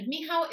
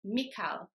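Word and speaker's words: Michał: about Pavo but it's because of the CH in the middle which often English speakers pronounce as C so they might say mik it's not pronounced like that at all imagine that the C is not there at all so whenever you've got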